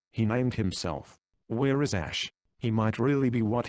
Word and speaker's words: Ash: Ash. Not Ashar but Ash.